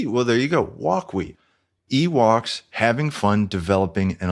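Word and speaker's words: Wokwi: going to have is how do you pronounce this thing what what is the what's the deal with the name well here's the deal the developers were Ewoks you take off the E you got walks so that's walk and then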